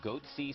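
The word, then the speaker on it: Goatse: getting the goatsy picture they're called goatsy security is that am my pronouncing that correctly yeah that's right we're analyzing coverage from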